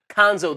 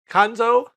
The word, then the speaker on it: Cuonzo: his first name kanzo kanzo the U is silent kanzo has won at Missouri